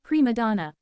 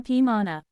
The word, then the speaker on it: prima donna: He tries to institute a new policy in the office called prima donna. But he pronounces it prima pima donna.